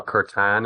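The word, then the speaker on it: kirtan: be in the room with that or a curtan.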